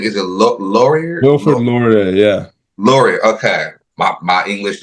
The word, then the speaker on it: Laurier: Wilfred Laurier, yeah.